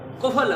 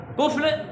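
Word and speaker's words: قفل: कुफल गलत है, कुफल दुरुस्त है।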